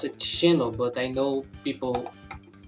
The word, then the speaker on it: Xeno: By the way, I pronounce it Xeno, but I know people say Zeno. It's mostly because here in my language the X sound is a different sound most of the times.